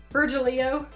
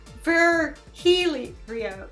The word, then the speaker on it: Virgilio: divorce hinder you look winded for Virgil Bert Virgilio it's pronounced fare Healy Rio Mercurio beer beer Helio fur beer here yo